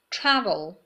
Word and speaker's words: travel: Okay, number one, travel. Stress روی سیلاب اوله. Tra.